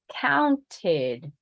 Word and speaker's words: counted: path to take is the last letter T oh yeah it is count count so what am I supposed to do pronounce the E include the T so now I have to pronounce the the syllable counted counted counted counted count it's more subtle more closed all right relax